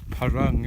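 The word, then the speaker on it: Parâng: hotel for the night, ready to start the Parung, as I now know it's pronounced, which is the next range I do.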